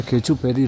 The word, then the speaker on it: Khecheopalri: अच्छा खिचियोपारी लेक है, मैं उसको गलत प्रनाउंस कर रहा था।